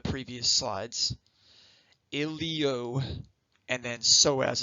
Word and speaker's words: psoas: slides ilio and then psoas is spelled with a silent p so it's a combination